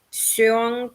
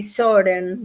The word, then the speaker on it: Søren: ustedes saben que Kierkegaard tenía como nombre Søren, así se pronuncia en danés más o menos, algo así, Soren, digamos, Obi, que Obi